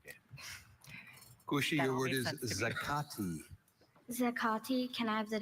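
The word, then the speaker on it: zacate: There is zakati and zakati.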